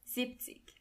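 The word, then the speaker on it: siebzig: When you want to say 70, you don't say and tick, but you only say zip tick. In a way, it does make sense because it's easier to pronounce. Zipic 80 would be Arctic.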